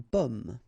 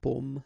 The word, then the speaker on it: pomme: Okay, so you can see that I pronounce them a little bit, a little bit differently, but then we'll be careful that in many cases people will pronounce them the same way. Okay, because in that case normally it should be a bit lower, pomme, and then here more open, so pomme.